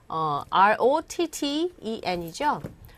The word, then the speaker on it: rotten: 알아주시면 되는데 발음하실 때 R-O-T-T-E-N이죠. R-O-T-T-E-N B-U-T-T-O-N 제가 요 발음하고 요거하고 보면요. rotten 이로 발음해요. 트 발음이 안 들리고요.